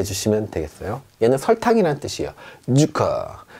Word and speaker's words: Zucker: 자, 어떻게 발음하냐면 쌍지 발음이 납니다. 우리말로 약간 세게 쯔 소리가 난다. 그래서요. 소금이라는 뜻이죠. 잔츠. 잔츠. 이렇게 해 주시면 되겠어요. 얘는 설탕이라는 뜻이에요. 주커. 주커.